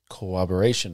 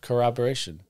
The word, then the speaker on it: corroboration: had to pause and make sure I said collaboration right you still said it wrong cooperation you're still wrong corroboration there you go okay that word sucks cooperate